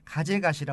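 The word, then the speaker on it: 風頭: 한 곳은 이 건강한 다리만 있으면 올라갈 수 있기 때문에 이 가제가시라, 우리 한자로 하면 풍두공원입니다. 바람 풍자에 머리 두자, 바람의 머리가 있는 그런 공원이다. 근데 일본 발음으로는 가제가시라 공원이 되겠습니다.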